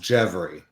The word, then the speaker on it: Gjevre: And my name is is pronounced Jevy, but nobody can pronounce it right, and nobody can spell it right.